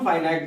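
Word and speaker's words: finite: भी कह सकते हैं, चाहे तो आप नॉन फाइनाइट वर्ब्स कह सकते हैं और चाहे तो नॉन फिनिट वर्ब्स भी कह सकते हैं। तो दोनों ही रूपों में हमारा प्रोनाउंसिएशन सही है।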